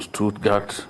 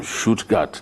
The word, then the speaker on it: Stuttgart: africa command africa from stuttgart from shootgut that's the way it's pronounced from stuttgart to africa